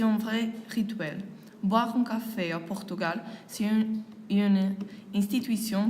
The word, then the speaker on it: café: Tout d'abord, le mot café s'écrit en portugais de la même façon qu'en français, mais l'accent aigu se prononce comme un accent grave.